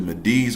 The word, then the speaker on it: Medes: He said the Medes are pronounced like seeds. The Medes. But with the M, Medes.